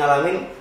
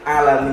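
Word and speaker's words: العالمين: sama guru saya ketika ada murid satu yang ngalamin malah enggak dibenerin tapi disalahin jadi disuh benerin alamin kalau itu masalah dialog selagi masih bisa dirubah bacanya pakai bahasa yang benar yang benar tu alamin Iya enggak ngalaminalam alaminam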